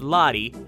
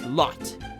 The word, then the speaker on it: Lotte: And by the way, it's not pronounced Lottie, it's pronounced Lot. You fail at Swedish. It's a Swedish fail.